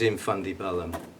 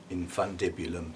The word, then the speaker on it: infundibulum: buds yeah this is in fundy bellum infundibulum sorry sorry sorry when you've been saying it wrong for a long time because you find the word comical i'm sure you can see why um trying to say it properly not to upset people